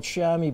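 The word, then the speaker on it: chamois: You might consider using a product we call Shami Butter. And uh that's spelled Shamwa by the way. And the shammy butter is a cream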